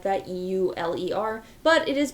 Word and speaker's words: Euler: spelled like maybe Euler or something like that e-u-l-e-r but it is pronounced Euler and named after very famous mathematician